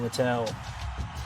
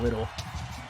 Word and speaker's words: Littell: There's Rylan Littell, or Rylan Little. Poorly it's pronounced Little, but I think Littell is a little bit funny.